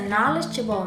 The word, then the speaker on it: knowledgeable: My grandfather is a knowledgeable man.